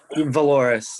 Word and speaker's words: Valoris: Okay, Valorous, did I pronounce it right? Valoris? Yeah, Valoris, yes, correct.